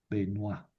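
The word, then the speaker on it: Benoît: Y aquí les pongo el esquema que hicieron Benoa Buamar y Malill yo, Benoisa, así se pronuncia. Estos franceses, escriben Benoit y pronuncian Benois. escriben boismart y pronuncian boamar.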